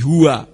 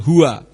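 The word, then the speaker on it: הוא: mengganti nama yahwe menjadi Hua memang kalau hurufnya itu ada alb di belakang Tapi huruf alb itu tidak berbunyi sehingga membacanya bukan Hua tetapi membacanya hu hu itu bukan nama tetapi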